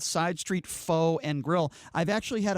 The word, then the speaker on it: Pho: Well, Side Street Pho, and yes, it's pronounced Pho, I have learned from many repeat offense in terms of pronouncing it wrong.